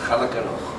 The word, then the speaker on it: خلق: ஹா வரணும், கா வரக்கூடாது, ஹா வரக்கூடாது. உச்சரிப்பு கரெக்டாக இருக்கும். ஹலக்கணும். ஹலக்க ஹலக்கனா என்ன? ஹலக்கனா படைத்தான். ஹலக்கனா டோட்டல் மீனிங் வித்தியாசம். கேர்ஃபுல்லாக இருக்கும். ஹலக்கன்னு சொல்லும்போது அந்த ஹா வரும்.